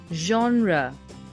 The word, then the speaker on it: genre: like pop or classic its right pronunciation is genre i hope you liked